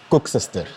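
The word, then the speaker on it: koeksister: Like what's a cook sister? It's more. Am I even pronouncing it properly? Cook sister. Cook sister. So so. Try saying it in an Afrikaans or Dutch accent, right? So it's cook sister.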